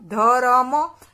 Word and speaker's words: धर्म: उसका उत्तर होगा धर्म तो देखिए यह रॉक का उच्चारण धीरे से हो जाता है यानी उसके पीछे अब जब रॉक का उच्चारण करते हैं तब उसके पीछे और कि ध्वनि नहीं करती यानी कि वह रहित